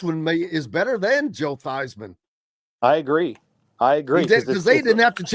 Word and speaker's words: Theismann: Nobody knows who the heck Joe Theismann is, but they know who Joe Theismann is. That's it, baby. Right? You got to change your name so it rhymes with Heisman.